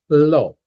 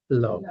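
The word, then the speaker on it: לא: No in Hebrew is low. Low. Low. Yeah. Like the opposite of high. Low. And that's just exactly how it sounds.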